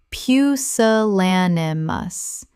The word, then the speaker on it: pusillanimous: loquacious loquacious Word 275 pusillanimous Common mispronunciation pusillanimous Correct pronunciation pusillanimous Five syllables with the stress on the third, meaning showing a lack of courage.